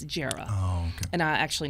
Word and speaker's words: Jera: reporter named Jera Stapleton, a lot of people don't know how to pronounce her name. It's short for Geraldine, but it's Jera.